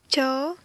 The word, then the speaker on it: ច: Et je vais vous écrire comme d'habitude, si je peux dire la prononciation. Donc c'est cha.